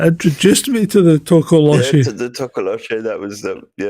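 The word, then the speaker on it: Tokoloshe: Oh, I think at one point in the video I actually mispronounced it. I call it a Tolokoshi, I think.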